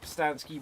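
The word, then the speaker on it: Pustansky: quickly for me uh my name is pistanski you can find me on facebook instagram and twitter at postansky which is spelt p-u-s-t-a-n-s-k-y you can also get a copy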